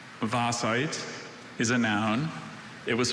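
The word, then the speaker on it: vaesite: Vasite. really unusual vowel combination for that sound in the English language.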